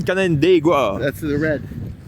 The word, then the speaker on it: Canandaigua: It's a good pronunciation, Canandaigua.